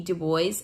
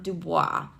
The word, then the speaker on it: Du Bois: thinkers that are very famous one is w.e.b du bois it is not dubois so if you've heard that it's mispronouncing it and i know that because he's